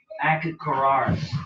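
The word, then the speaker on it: Achiacharus: Moreover, so how you pronounce it is Akakaras.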